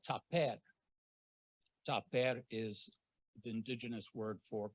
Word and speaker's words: tapair: Tapair is the indigenous word for cultural forest. So T-A-P-A-I-R would be the pronunciation, tapair.